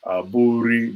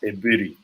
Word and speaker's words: Aburi: They say Nigeria call it Aburi, but the Ghanaians pronounce it as Ebiri.